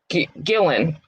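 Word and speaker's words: Guillén: I always screw up her last name, Guillen. I always screw up her last name because it's not how it's spelled.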